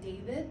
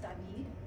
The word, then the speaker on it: David: Looks like David, but it's pronounced David.